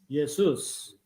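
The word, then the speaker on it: Ἰησοῦς: 예, 발음을 들려드릴게요. Jesus. Jesus. 예수스. 그러면 예수 그리스도를 원어 발음으로 한번 해보시면 어떻게 되는 거죠? 예수스 크리스타스. 예수스 크리스타스 뭐 이렇게 되는 거죠.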